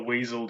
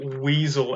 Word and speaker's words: Wiesel: Oh, Eli Weasel, and it's spelled WIESEL.